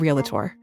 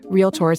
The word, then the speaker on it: Realtor: you say it proper it's real tour not real Tor real tour two syllables not three okay very important extremely important